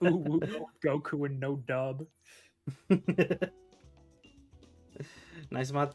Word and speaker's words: Guku: And then Goku, like Goku with a U.